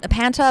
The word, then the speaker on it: Panta: So, Panta mostly. Pan like Santa with a P and then mostly like kind of like mostly awesome but more so crazy. Panta mostly.